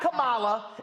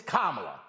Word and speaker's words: Kamala: right her name is it's not kamala it's kamala so can we go ahead and get it right her damn name is